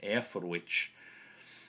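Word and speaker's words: Eoforwic: and there you have the C at the end is pronounced like a church sound so air for which and the the Royal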